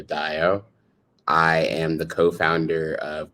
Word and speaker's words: Dayo: um my name is daiyo um you can pronounce my first name like uh cinco de mayo with the d i'm cinco de dayo i am the co-founder